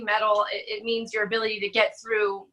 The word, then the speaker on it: Mettle: what are your influences one would think the word Emmy TT le it's spelled kind of European like the metal like and your metalheads